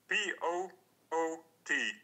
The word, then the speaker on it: Poot: Yeah, it's double O. P-O-O-T. Yeah. Poot.